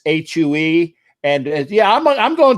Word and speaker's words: Hue: in uh vietnam okay and it's it's it's hue and yeah i'm i'm going to the you